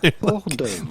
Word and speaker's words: hors d'oeuvre: Simply hors d'oeuvre. The little hot. Hors d'oeuvre. Hors- In hors French, d'oeuvre? typical French pronunciation, hors d'oeuvre.